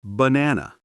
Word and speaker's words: banana: Say banana. First syllable, b. Middle, na. End, na. Only the middle one is strong. The others are relaxed. That's English rhythm. Strong, weak, weak.